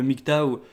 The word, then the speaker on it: MGTOW: parler du nyc tao alors le mic tàu qui s'écrit ben on le prononce en français mg et théo w ce qui est assez surprenant quand on lit la première fois est un acronyme qui